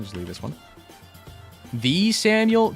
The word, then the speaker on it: Samael: How do you say it? I know it's spelled A-E-L, S-A-M-A-E-L. Is it Samuel? Am I stupid? It's like Samuel, right? Samael. Manuel Samuel. Yeah. I've always said Sam-A-L. Yeah. I mean, Samael? I feel like there's too many syllables.